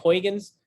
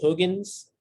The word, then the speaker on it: Huygens: Eso en español mucha gente le dice Huygens. El otro día estaba hablando con un compañero mío holandés, que aparentemente así no se dice ese apellido, porque ese señor Huygens era de Holanda. Aparentemente se dice Huygens en Holanda, y que así no